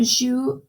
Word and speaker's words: jouent: Les élèves jouent au soccer. Remember we talked about this. You don't pronounce the ENT because if you pronounce it like jouant, it's going to sound like an ONS.